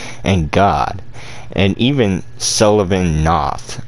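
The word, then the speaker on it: Knoth: god and even sullivan noth i believe that's how you're saying it right because the k and the n would would make the case silent like not but it's not i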